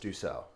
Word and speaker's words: Dussault: telling me that it's pronounced Dussault.